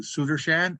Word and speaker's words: Sudershan: pass the puck to sudershan I will describe his project and I is that the correct pronunciation uh absolutely right names are so important